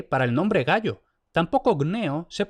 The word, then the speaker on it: Gnaeus: habían sido Gayus y Gnaeus, escritos con G y siempre pronunciado con G. Es decir, simple y llanamente, la primera consonante nunca se pronunció como K.